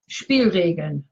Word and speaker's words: Spielregeln: How's the pronunciation? Spielregeln.